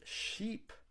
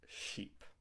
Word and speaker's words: sheep: And with the word sheep, your mouth is stretched. Look in the mirror. Try saying these words and watch your mouth to see how it moves. Ship and sheep.